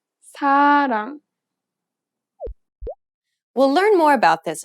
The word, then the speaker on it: 사랑: 사랑. 사랑. It sounds closer to an L than an R in English. Listen again carefully. 사랑. 사랑.